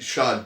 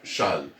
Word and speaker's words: Chasles: On lit Chasles directement, sans prononcer ce S. On lit la relation de Chasles.